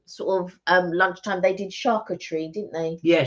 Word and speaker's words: charcuterie: Yeah, because the Americans say it differently to the way that we say it. And so in my mind, I keep thinking of charcuterie, and that's not the way we say it in the UK.